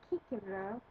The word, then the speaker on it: Cicero: he died 43 bc cicero and latin as we know the seas are pronounced hard so in latin that would be kikibro and kikono means chickpea